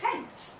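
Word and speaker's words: Kemet: is call themselves chians and their land is Kent this is how you pronounce it Kent it's usually spelled sometimes it's spelled with an E there instead of an i Kent and it means the black land that's the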